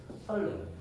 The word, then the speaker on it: 선릉: 그 외에도 설릉. 네, 리얼이 리퀴드니까 설릉 이렇게 발음이 됩니다.